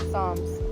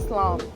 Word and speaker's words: Psalms: Okay y'all, so we are finally done with the slam psalms. I keep saying slom. Psalms. They got like all these extra letters in here and you don't even hear them when you pronounce it.